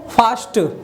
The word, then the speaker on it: fast: यहाँ पे देखेंगे तो FAST ना, FAST यहाँ पर बताया है जब ST लास्ट में रहेगा तो ए का उच्चारण क्या होगा, आ के रूप में होगा, इसको क्या पढ़ा जाएगा, तो फास्ट।